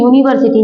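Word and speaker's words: university: कर रहे हैं तो यहां पे देखो यूनिवर्सिटी ना कि यू को हम अ या इ या ऐसा कुछ नहीं प्रोनाउंस करें इसको क्या प्रोनाउंस करें यम तो ये किसम आएगा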